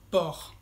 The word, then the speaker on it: porc: O también puede ser du porc, porc es puerco. La C al final es muda, entonces se pronuncia por.